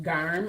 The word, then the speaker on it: Garm: It's pronounced Garm, I'm Garm? sure. Garm? G-A-R-M. Garm. Is that correct? It's not Graham. It's Garm. I don't see G-R-A-M. So it's Garm.